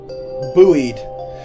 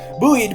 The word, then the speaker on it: buoyed: Bo uh buoyed by her sec Oh my god, how do you pronounce that? Buoy. Buoied. Buoied by her second wind, Terra runs off again.